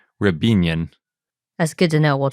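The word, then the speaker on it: Riabinin: And I always need to remember, I always want to pronounce it Ryabinin, but I think it's pronounced Rebinian.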